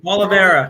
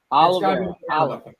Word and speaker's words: Oliveira: Oliveira. Charles Oliveira. Oliveira.